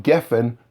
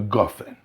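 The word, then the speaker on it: גפן: safe passuck or Esnachtah, it changes from Geshem to Gashem, from Gefen to Gofen, and again it's always with a kumatz.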